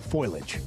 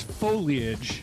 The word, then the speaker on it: foliage: We're running out of time for the fall foilage. The fall what? Foloage. Okay. Is it foliage or foliage? It's foliage. Foliage. It's three syllables.